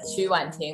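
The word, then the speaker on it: 曲婉婷: is wanting and uh last name is qu in chinese is pronounced as chuwan ting that's my full name and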